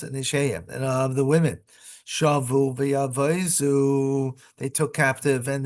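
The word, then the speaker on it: שבו: Shavu, they took captive. Lashon shviya, captivity. Lefikal tamu milera. Therefore, the accent is the last syllable. Shavu, not shavu, which means they returned.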